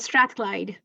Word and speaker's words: Strathclyde: Lamia Sami is a final year PhD student at the University of, and Lamia, please, if you can pronounce this. It's Strathclyde.